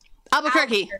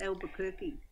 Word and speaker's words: Albuquerque: Albuquerque. Thanks, Heather. Is it Albuquerque?